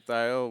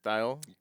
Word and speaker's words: Thayil: goes hey this is B ban and Kim thyle we're uh I'm saying that right thyle yep sorry I always seen it printed never